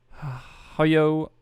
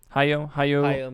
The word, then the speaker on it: Hayao: legendary director of the studio ghibli anime films hayo miyazaki which i said the first name wrong and everyone in the comments is coming for me i think it's just taiyo haiyo miyazaki yes miyazaki yes legendary filmmaker at 80